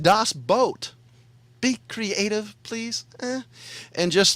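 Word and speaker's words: Das Boot: It's pronounced Das Boat.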